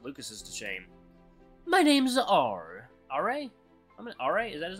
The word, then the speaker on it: Aure: It's French. Everyone else just pronounces it Aure, so don't be ashamed to call me that.